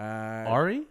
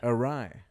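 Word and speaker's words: awry: the first 11 years of my life I'd pronounce it AI uh Ari yeah can you try to guess what word I'm trying to say Ari yeah Ari oh oh no Ari yeah I have no idea arai look how it spelled oh a w y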